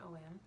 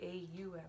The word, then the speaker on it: Om: it on om as you see the word om or some people pronounce it AUM so or oh oh oh yeah so I'm